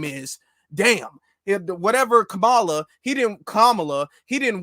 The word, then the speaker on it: Kamala: her name you know for the last four years Kamala was fine and now all of a sudden you have to say Kamala you have to say it like that or else you're being